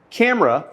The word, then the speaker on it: camera: The two-syllable word camera has the stress on the first syllable, and by the way, mark stress like this.